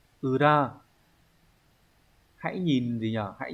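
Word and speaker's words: 裏: Chữ này là chữ lý, sẽ đọc âm kunyomi là ura.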